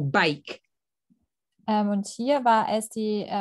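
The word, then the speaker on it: Bakke: And the last one was the University of California versus, I think it's pronounced back or bake.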